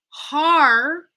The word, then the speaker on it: hardly: going to want to pretend that hard is a two-syllable word now, where the first syllable finishes on R and the next syllable starts with the D.